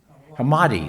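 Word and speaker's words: Hammadi: hammerfield or Hammer how do you say it hamadi thank you there got Discovery remember in in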